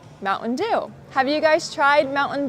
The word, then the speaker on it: Mountain Dew: So, you do not pronounce the T in the glottle stop. You will say Mountain Dew. Mountain Dew.